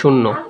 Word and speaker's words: শূন্য: তারপর দেখো, শূন্য শব্দটির সঠিক উচ্চারণ কোনটি? এটা হবে শূন্য। আমি বলেছিলাম শর্টকাট দিয়ে দন্ত নয় ফলা থাকলে দন্ত ন হসন্ত দন্ত নৌকার নো হবে।